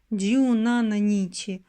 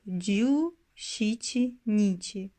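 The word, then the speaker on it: 十七日: Par exemple, on ne dit pas « ju nananichi » pour le dix-septième jour ; on le prononce « ju shichi nichi ».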